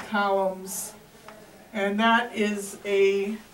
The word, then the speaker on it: coulomb: So that C, let me show you how to spell it. It has lots of OUs in it. It is spelled C-O-U-L-O-M-B, columns.